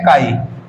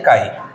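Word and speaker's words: chi: represent किया जाता है इस सिंबल को बोलते हैं काई क्या बोलते हैं काई इसकी स्पेलिंग हो है सी एच आई काई ठीक है यानी कि सिंबल को आप काई पढ़ेंगे यह है क्या मोल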